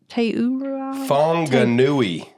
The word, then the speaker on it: Whanganui: Whanganui. Well, you can pronounce it that with the W or the, and so the other one was the Teura forest under the Maori traditions.